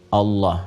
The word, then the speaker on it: Allah: Walaupun nanti dalam pedoman transliterasinya dituliskan misalnya ada A, kemudian L, ada yang menuliskan A lagi, kemudian H, dibacanya tetap mengembalikan kepada diksi aslinya, tulisan aslinya dalam bahasa Arab, yaitu Allah. Ingat ya, Allah.